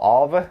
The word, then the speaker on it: AVA: Last week we had a live session with Arva of Norway, or Arva, I believe it's pronounced, a pressure washer brand.